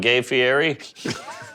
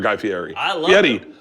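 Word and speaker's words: Guy Fieri: get some food going gay Fier all right you met gay or guy Fier I said his name wrong twice super cool guy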